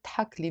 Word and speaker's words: تحكلي: Okay, but here I wrote تحكلي because I copy-pasted the lyrics from somewhere, but in the Lebanese dialect we will not pronounce the alif.